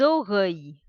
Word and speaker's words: oreilles: Les oreilles. Les oreilles. Oreilles. The sound of the double L will be Y.